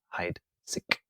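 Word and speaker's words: Heidsieck: u.s ambassador at charles heitzig pronounced hide sick uh champagne very very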